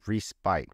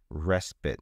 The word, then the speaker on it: respite: should be respite and people who are not familiar with the word when they see it they will say respite because that's the normal way of reading English words but if you are familiar with the word you would not do that you would say respite no time for respite